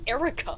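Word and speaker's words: Airwrecka: I mean, if it's just gonna be pronounced Erica, why not fucking spell it that way?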